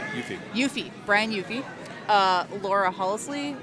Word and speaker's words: Hufe: Asked them specifically, I said, how do you pronounce Yes. that? And they said Hufe.